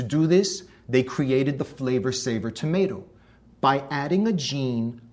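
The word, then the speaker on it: Flavr Savr: It was called the Flavor Saver tomato. That's spelled F-L-A-V-R-S-A-V-R, Flavor Saver.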